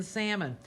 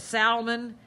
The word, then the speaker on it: salmon: ever since even if southerners have a proclivity to pronounce the l in salmon you know and i